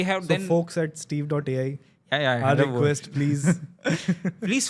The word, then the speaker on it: Steve.ai: If you go for something called as Steve.ai, they...